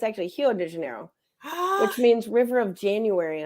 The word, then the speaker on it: Rio de Janeiro: is actually called because the r's are actually pronounced like H's so when if you say Rio de Janeiro is what we always say it's actually hero de Janeiro which means River of